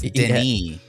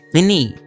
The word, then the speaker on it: Denis: It's Denis. Denis. Vinny. Vinny. It's Denis. It's not Vinny. Hey, it's Vinny. Director Dune over here. Vinny. No, he's French. It's Denis.